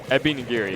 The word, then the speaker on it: Ebi Nigiri: out on the side of how do you pronounce it help me out I'm trying not to Abby nigiri Epi nagiri yeah there we go sorry I know it's